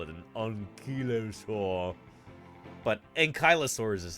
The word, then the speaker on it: ankylosaurus: UK you could call it an unur but ankylosaurus is how we pronounce it as American dinosaur pons I remember